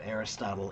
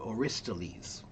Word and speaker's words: Aristotle: uh, I only recently found out that the pronunciation of Aristotle in English is actually really, really terrible. Um, it should be pronounced closer to Aristoles.